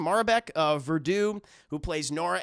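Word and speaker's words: Maribel: in this film uh Marbeck is how you say her name maribek uh Verdu who plays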